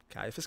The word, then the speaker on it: Ciaphas: And that was what probably should have been titled Mood Kindred Ciaphas Cain. It's a hard C, not a soft C.